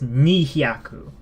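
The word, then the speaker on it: 二百: And the way you pronounce this is ni hyaku. 200. So exactly how you would think it's pronounced based on the kanji.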